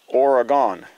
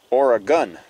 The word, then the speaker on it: Oregon: not supposed to say origon it's not how it's pronounced from people who live in Oregon I was told it's supposed to be pronounced or a gun so we're going to